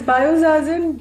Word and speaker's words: Biozazen: So tell me, what inspired Biozazen? Am I pronouncing it right? It's Biozazen? Yeah, it's Biozazen.